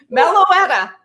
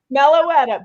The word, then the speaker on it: Meloetta: Meloetta. Meloetta. She's the melody character. That's what she is. I looked her up last night. Yeah. So Meloetta.